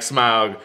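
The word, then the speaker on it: Smaug: the true pronunciation yeah the tolken estate owns pronouncing it like smog smog so we're going to call him smog but it's like I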